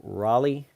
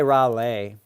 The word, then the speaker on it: Raleigh: is what Raleigh Raleigh I always say that name wrong Raleigh I always want to say rale I don't know why must just be a way of saying things but ra Raleigh Raleigh